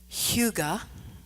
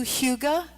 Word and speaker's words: hygge: Only I'm not saying it right. I'm going to spare you the throat-clearing pronunciation, but you get the idea, and you can practice saying it wrong with me if you want.